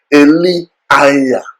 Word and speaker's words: Elijah: For instance, we say Elijah, okay, Elijah. The actual pronunciation is actually Eliah, Eliah. That is how the things are pronounced.